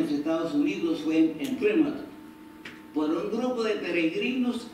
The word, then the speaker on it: Plymouth: El primer asentamiento permanente en los Estados Unidos fue en Plymouth, yo no sé si se dice Plymouth o Plymouth. ¿Cómo se dice, Carlos? Plymouth. Ah, Plymouth.